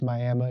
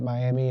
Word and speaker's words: Miami: And if you're from the Panhandle, yes, it's Miami. If you're not from the Panhandle, you would pronounce it Miami, and that's how we know you're not from the Panhandle, by the way.